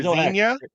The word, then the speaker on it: Xenia: Just Zena. Oh, I was right. Xenia or Zena Xenia. Just like Zena Warrior Princess.